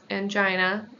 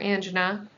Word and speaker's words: angina: This can lead to chest pain, known as angina or angina, whichever way you want to pronounce it, both are correct.